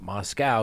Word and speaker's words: Moscow: of Idaho students now the Moscow Police Department not Moscow even though it's spelled that way which is leading the